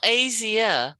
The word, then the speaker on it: Asia: a sure asia easier not asia not three syllables two syllables asia nope yeah no